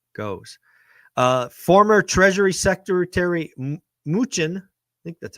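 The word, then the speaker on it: Mnuchin: uh where that goes uh former treasury secretary muchin that's how you pronounce his name is out talking about his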